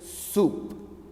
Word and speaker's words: soup: now you know that here o is silent correct though it is written it is silent that's why it is soup okay let's move forward